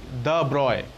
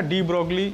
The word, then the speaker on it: de Broglie: ব্রগলি actually আমরা বলি, নামটা উচ্চারণ করি এইভাবে, উনি একজন ফ্রেঞ্চ সায়েন্টিস্ট। অ্যাকচুয়ালি এই পার্টিকুলার যে শব্দটা, এটার উচ্চারণ এরকম হওয়া উচিত ফ্রেঞ্চ অনুযায়ী দ্য ব্রয়, কিন্তু ইংরেজিতে আমরা ডি ব্রগলি উচ্চারণই করি এবং সেইভাবেই আমাদের সমস্ত বইপত্রতেও লেখা হয়।